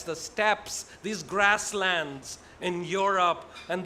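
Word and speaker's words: steppes: s t e p p e s the steps these grasslands in Europe and they came and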